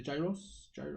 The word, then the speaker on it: gyros: this acropolis place do the the giant the gyros enough that's how you say it the greeks